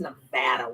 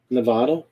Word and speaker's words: Nevada: my god i mean you guys even pronounced nevada weird nevada nevada nevada nevada oregon that's good